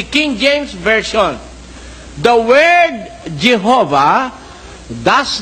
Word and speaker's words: Jehovah: The sound of Y is represented by J and the sound of W is represented by V as in Latin.